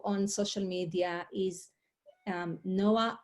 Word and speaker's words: Noa: website is my first name and last name noah and if you listen to it it's n-o-a-n-o-a